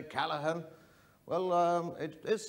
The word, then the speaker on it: Callaghan: It's Calla with an H, not Calla with a G, cause Calla with a G goes G, not H.